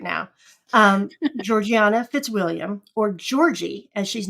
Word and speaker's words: Georgiana: with the main character, Georgiana. How do you say her name? Georgina? Yeah, Georgiana. Yeah. Georgiana. And some people say Georgina. I mean, in England, they would say Georgiana.